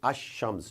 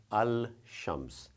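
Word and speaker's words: الشمس: So you would say ash-shams, not al-shams.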